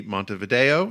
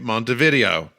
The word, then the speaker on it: Montevideo: them live in the capital and largest city, Montevideo. Is that how you pronounce it, David? Very good, George. All right. I'm not going to make the common mistake of calling it Montevideo.